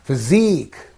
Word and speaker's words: physique: this first one Rees physique you have to say physique so here unique like that and the last one